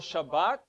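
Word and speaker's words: שבת: the middle of it what is a word that has a beta in it s h a b b a t a word related to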